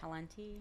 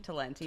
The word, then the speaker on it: Talenti: Talenti. Talenti. Talenti.